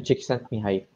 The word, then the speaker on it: Csikszentmihalyi: Hindi ko ma-pronounce yung last name, so gawin na lang natin Professor Mikali. Mikali Csikszentmihalyi.